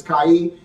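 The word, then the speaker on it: chay: Kai, and it's spelled C-H-A-Y.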